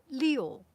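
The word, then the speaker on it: 六: good number because also it comes from the sound leo leo leo leo try to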